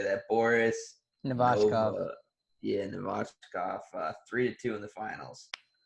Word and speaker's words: Boris Novachkov: Boris Novachkov.